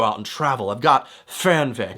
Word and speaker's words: Fernweh: I've got Fernweh. Just make sure you don't pronounce it Fernweh, okay? That's not it. It's Fernweh.